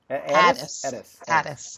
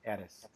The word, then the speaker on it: Ades: name is, and is the last name pronounced Ades? Ades. Forget the N, we don't need that, Ades.